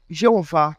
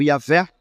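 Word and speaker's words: Yahweh: Então, um nome conhecido como Yav ou Yahvé, popularmente Jeová, mas não é uma boa pronúncia. Talvez a melhor seria uma dessas duas que eu tô colocando, Yavou Yahver.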